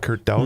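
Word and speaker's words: Kurt Daudt: Um, former state representative Kurt Dout, is that how you pronounce it? Kurt Dout.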